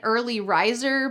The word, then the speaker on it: early riser: I'm usually an early riser, but this morning I overslept. Make sure you pronounce the hard R's in this phrase. Early riser.